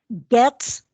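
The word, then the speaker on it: Getz: clinical services thank you pronunciation for me again gets yes it's like g-e-t-z or stan gabs got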